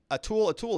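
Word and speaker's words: atlatl: A tool is pronounced a tool.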